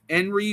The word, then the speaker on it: Jenrry: It's said like Henry, but it's spelled JENRRY. He got popped for roids, for Okay.